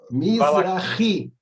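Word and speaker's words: מזרחי: Mizrahi. Mizrahi, acento no I.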